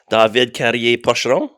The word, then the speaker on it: David Carrier-Pocheron: I'm here with David Carrier-Pocheron.